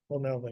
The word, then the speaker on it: O'Melveny: Is that how you pronounce it? And Myers? O'Melveny.